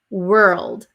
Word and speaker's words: world: on this word actually world world world so w were it becomes an r were and if it's difficult to go from r to l you can add like a a little